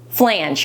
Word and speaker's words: flange: Someone said it's flange because it's like Angie, but flange, you know?